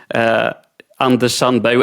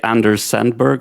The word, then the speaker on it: Anders Sandberg: I pronounce it in Swedish. Maybe you would say Anders Sandberg or something like that. But he's a Anders Sandberg. Yes. Yeah. I had to say it in the American form.